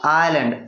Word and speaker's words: island: आइलैंड, आइलैंड pronunciation क्या है? आइलैंड, ISLAND। आइलैंड का अर्थ होता है डीप।